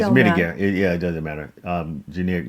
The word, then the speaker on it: Mitigare: Yeah, I can't even pronounce it. Well, it's Mitigare.